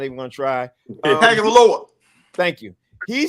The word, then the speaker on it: Tagovailoa: I can never pronounce his last name, so I'm not even going to try. Tagovailoa.